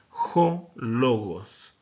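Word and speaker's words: ὁ λόγος: Y como es un espíritu rudo, por eso es de que vamos a pronunciar de esta manera. Jo logos.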